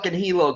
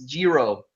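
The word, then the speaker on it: hijo: hey you know what I didn't say Hilo though my pronunciation might suck but I don't say Hilo because it's Jiro see you would know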